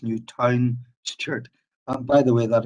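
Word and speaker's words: Newtownstewart: stewart is spelled correctly it's not newton stewart it's new town shirt and by the way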